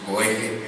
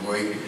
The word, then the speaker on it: Boege: En algún momento le pregunté, oye, ¿cómo se pronuncia tu apellido? Dice, ¿de verdad quieres saber? Me dijo Eckhart. Me dice, pues Boege. Entonces, pues ni modo, Boege.